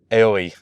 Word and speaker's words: Aoi: Oi, how do you pronounce that one? Aoi. It's A-O. Aoi.